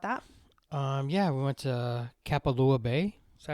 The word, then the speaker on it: Kapalua: Yeah, we went to Kapalua Bay.